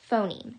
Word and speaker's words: phoneme: is called a phoneme i'm very sorry and i apologize about the pronunciation i had been i think a couple of times in the at the beginning of this video i mentioned um i pronounced it differently but the correct pronunciation for this term um which is the basic unit of sound in english um language is phoneme so the phone there